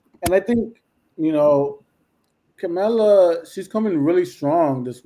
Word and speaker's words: Kamala: I remember the thing to remind you is Kamala Mamala. Kamala Mamala. It rhymes.